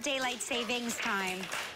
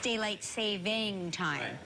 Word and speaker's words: daylight saving time: it's by the way it's not daylight savings time it's daylight saving time did you all say